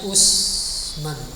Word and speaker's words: Uthman: Jadi Bapak sudah lihat tulisan Uthman. Kita ma'ruf bacanya Usman. Tulisan Indonesia kan. Nah, ini aslinya. Ain sa. Uthman.